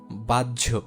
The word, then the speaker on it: বাহ্য: এটা অনেকটা এরকম উচ্চারণ হবে জ। যেমন দেখো বাহ্য, উজ্জ, ধার্য, গ্রাহ্য এরকম উচ্চারণ হবে, ঠিক আছে।